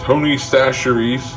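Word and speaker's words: Tony Chachere's: mixed together I season it with this stuff Tony saseries yes that's how it's pronounced not how it's spelled the original Creole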